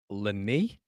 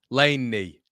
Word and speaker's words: Lene: It's Lene pronounced Lenny? Laney. Laney.